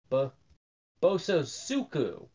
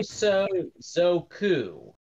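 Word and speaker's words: 暴走族: normally see out here this is a boso suku oh boy I butchered that pronunciation I'm sorry oh so zoku this is a Japanese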